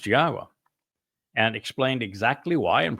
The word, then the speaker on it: Yahweh: to tell you that Yahweh's name is pronounced Yahwa and explained exactly why and proved it.